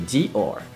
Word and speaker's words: Dior: Et or, like, mais où est donc Ornicard? or, because or, you know, or. So Dior, Dior.